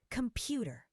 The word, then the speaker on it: computer: Computer. The second syllable is stressed.